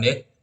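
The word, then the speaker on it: deque: berakhir ganda jadi pada deq itu diucapkan Dek atau antiran berujung ganda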